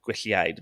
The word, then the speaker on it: Gwylliaid: I think it's Gwylliaid. It's GWYLLIAID, Gwylliaid. Gwylliaid, yeah.